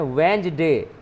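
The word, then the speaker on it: Wednesday: तो इसको पढ़ते हैं वेंसडे, है ना, इसको पढ़ते हैं वेंसडे, इसका उच्चारण वेंसडे, ठीक है।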